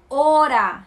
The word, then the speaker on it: hora: Hora, se escreve com H, mas não tem som. Hora, seria H-O-R-A, né? Hora.